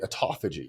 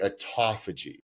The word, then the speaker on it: autophagy: Exercise can stimulate autophagy or autophagy, however many people pronounce it both ways.